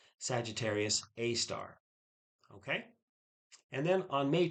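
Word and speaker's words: Sagittarius A*: The telescope detected our galactic black hole back in 2017, and it's been named Sagittarius A star, A asterisk, but it's pronounced Sagittarius A star.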